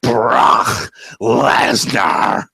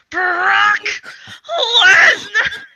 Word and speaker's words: Brock Lesnar: Let me say it correctly. How Paul Heyman says it: Brock Lesnar. Brock Lesnar.